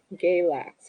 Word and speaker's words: Galax: It's pronounced Galax.